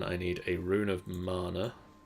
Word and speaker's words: mana: So then I need a rune of mana. Mana. How do you pronounce that, Sian?